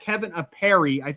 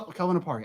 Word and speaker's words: Kelvin Apari: And I got Kevin Apari. Is that how you pronounce it, Kevin? Am I saying that right? Kelvin Apari. So, Kelvin Apari.